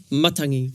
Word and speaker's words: matangi: Well, so when you have a look at we always stress on the first syllable. Yeah. So it's matangi.